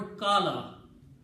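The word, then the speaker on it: كالوا: द एंड it become plural कालू A pronounce कालू कालू and this अलिफ इ not pronounce written काल दे major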